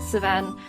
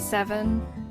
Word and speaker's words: Seven: he's my favorite character I call him savan his name is seven but when I was playing this game originally with one of my friends she mispronounced it as savan and I've called him savan since I don't know who